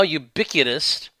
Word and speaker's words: ubiquitous: Number 5, Texas has led the country against the now ubiquitous rhymes with iniquitous, LGBTQ agenda.